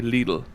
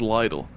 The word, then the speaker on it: Lidl: say little yes but it originates from Germany and they say Leal oh there you go Le you went wrong my but there's also an internet crazy that says Lidle and that's my grand